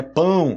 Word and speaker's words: pão: pau Lembrando que né a pronúncia de pau e pão que vocês geralmente tem problema com isso né pão pão francês eu quero um pau francês não pau pode ser pau